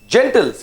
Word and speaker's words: gentle: for great okay next gentles you know this again this g is like j soft g see yes it was